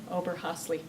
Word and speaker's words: Oberhasli: Oberhasli.